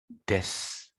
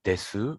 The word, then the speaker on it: です: Des. Des. Someone tried to say desu, but actually des sounds more natural.